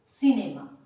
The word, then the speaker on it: cinema: Rules मेरा क्या है कि अगर जिस भी वर्ड में सी के बाद आई, ई या वाई ये 3 लेटर आता है, उस सी को हम स से साउंड करेंगे।